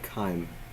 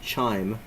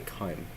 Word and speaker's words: chyme: Now I know that looks like you would pronounce it chime, but chime is like a bell, and this is obviously not a bell. This is the stomach and breakdown of food. So definitely not chime, and I would say